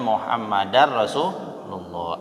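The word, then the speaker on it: محمدا رسول الله: Kenapa? Ya ada annanya itu ya. Jadi karena ada anna menyebabkan jadi bacanya Muhammadar Rasulullah. Anna itu huruf nawasib namanya. Jadi harus mansub dibaca.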